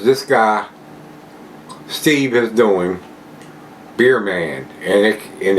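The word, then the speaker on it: Bier: guy Steve is doing beer man and it and it's B it's like the German pronunciation b i e r man I'll put those links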